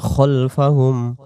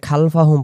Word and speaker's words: خلفهم: ইয়ালামু মা বাইনা আইদিহিম আইদিহিম আইদি দি এক আলিফ আইদিহিম ওয়ামা খলফাহুম ওয়ামা খলফাহুম ওয়ামা এক আলিফ এবং খালফাহুম পড়ব না, উচ্চারণটা পড়ব খলফাহুম ওয়ামা খলফাহুম من ذا